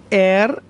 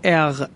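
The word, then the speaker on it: er: ایش من، توجه کنید، خواهش میکنم، ایش من، دو، تو، ار یا اغ، عرض کردم به صورت ر یا غ میتونید تلفظ کنید، ترجیحاً ر تلفظ کنید، هم درسته و هم ساده تر.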